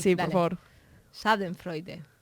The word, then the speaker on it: Schadenfreude: O sea, tengo que hacer acting de buena pronunciación. Sí, por favor. Schadenfreude.